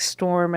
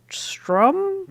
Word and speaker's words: Strom: Someone said I made it sound like storm and it's strum.